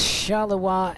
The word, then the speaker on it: Charleroi: as as well uh red guy says shalawa is correct not uh not roy well what do i